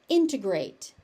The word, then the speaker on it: integrate: Integrate. Integrate. Integrate. You may also hear because there's a t in the middle of that word. You may also hear integrate and the t disappears.